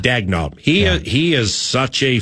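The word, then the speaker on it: Daigneault: Dagnalt. Dagnalt.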